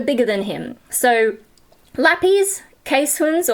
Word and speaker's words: Keeshonds: So, Lappies, Keeshonds, or Keeshonds, if you're going based on how it looks like it's spelled.